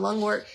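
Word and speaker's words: lungwort: So that's a little bit on lung work. Definitely like it. That's spelled L U N G W O R T I believe. Uh yeah, wart. W O R T, not W A R T.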